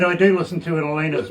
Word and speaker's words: Elena: i must tell you my name is pronounced elena okay so just so you know um but uh i know everybody calls me elena or alana or this but i just let you know if it's elena like ellen with an